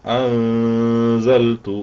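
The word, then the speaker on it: أَنزَلْتُ: നമുക്ക് അവിടെ കാണുന്നില്ല മറിച്ച് അവിടെ അൻ എന്ന ഉച്ചാരണം അല്ല വേണ്ടത് അൻസൽത്തു എന്നാണ് വേണ്ടത് എന്ന് സൂചിപ്പിക്കാനാണ് ആ സുക്കൂനിനെ അവിടുന്ന്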